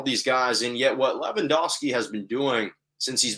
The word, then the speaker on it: Lewandowski: bayern munich's robert lewandowski lewandowski really is how they pronounce it but i don't have the thick accent was the fifa men's